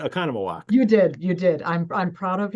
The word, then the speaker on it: Oconomowoc: It's actually the way it's spelled.